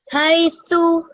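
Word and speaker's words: حيث: Just one thing that I'll change slightly is when you say hey, make sure this, because ya, remember alif, vav, and ya are mud letters, right? So that means you should take about 2 seconds when you pronounce this. So make it 2 seconds long.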